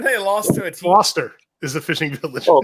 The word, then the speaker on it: Gloucester: Gloucester is the fishing village. Oh, Gloucester is the fishing village. They're both like old British names, which is why they're pronounced way different than they're spelled.